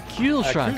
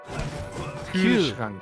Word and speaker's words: Kühlschrank: Kühlschrank.